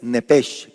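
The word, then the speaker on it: נפש: Entonces, para los que anotan, para los que anotan alma en hebreo es nepes.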